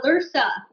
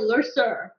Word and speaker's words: Lursa: He said the same thing to Lursa. He called her Lurser in Generations. And I was like, why did he say it wrong?